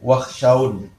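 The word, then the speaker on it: واخشون: Nah, ini fala takhshawhum wakhshawun. Maksudnya wakhshawni. Tapi dibacanya wakhshaw.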